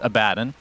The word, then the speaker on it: Abaddon: I understand that the correct pronunciation is Abaddon.